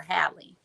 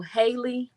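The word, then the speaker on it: Halle: I always have to put emphasis on how I pronounce her name because I keep wanting to call her Hie. So, Haley Bailey.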